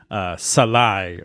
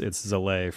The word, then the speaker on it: Zalay: I changed the spelling to make it a little bit more phonetic, but it should be Salai or something like that. But it's Zalay.